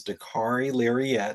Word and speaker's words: Dakarai Larriett: Well, first off, my name is Dari Lirette and I did watch your last episode and appreciate all the work on my pronunciation. The car rhymes with safari and I'm a